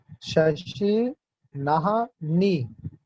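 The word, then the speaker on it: शशिनाह्नि: शशि नाह नी, शशि नाह नी, ठीक है, नाह पहले आएगा फिर नी आएगा।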